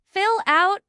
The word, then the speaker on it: fill out: The stress is on out. Fill out.